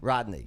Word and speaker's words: Rodni: Am I pronouncing her name Rodni. right? Rodney. Yeah. Like Dangerfield.